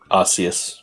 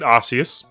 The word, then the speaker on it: Arceus: I recently bought Pokemon Arceus. I don't know how to pronounce it. Arceus. That's it, what he said, Arceus.